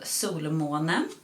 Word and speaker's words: Solmåne: It's called Solmåne. It's a Swedish indie brand, and I'm from Sweden, so I know how to pronounce this.